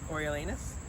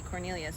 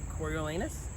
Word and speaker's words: Coriolanus: I think it's Coriolanus. So I just look at it and I say Cornelius because that makes sense to me.